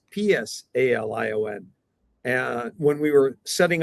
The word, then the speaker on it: Psalion: little bit more about Salion, as we say in English, Salion, but it's pronounced Psalion.